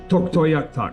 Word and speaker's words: Tuktoyaktuk: And then from Inuvik to Tuktoyaktuk is another 90 miles. Okay. Tuktoyaktuk. This is how it looks. Tuk, Tuk. toy, Tuktoy. yak, Yak. tuk. Tuktoyaktuk.